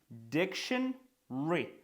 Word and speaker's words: dictionary: Dictionary. Знов таки, що відбувається? Dictionary. Ми не читаємо ось тут. Пам-пам, пам-пам, пам-пам. Прибираємо dictionary і виходить diction.